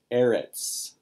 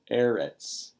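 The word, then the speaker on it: אֶרֶץ: Land, eretz, eretz. Segolet noun. It's accented on its first syllable and it has two Segels.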